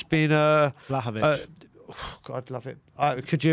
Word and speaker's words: Vlahovic: I wouldn't be surprised at all if it's Vlahovic, who I've just learned to say his name correctly, so it's got to happen.